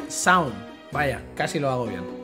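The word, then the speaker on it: Seam: cuéntanos algo sobre ti me llamó sin se pronuncia sound vaya casi lo agobia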